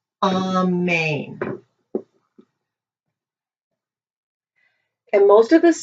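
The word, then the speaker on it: אמן: lane on main and most of you are you two saying amen and it's actually pronounced on main and lows of us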